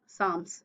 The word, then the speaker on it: psalms: poetry collection later Day Psalms here P silent it is pronounced as psalms about the poem The